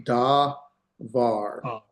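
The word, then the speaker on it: דָּבָר: Uh, so this would be da var the v sound because there's no doggish lane in there, right?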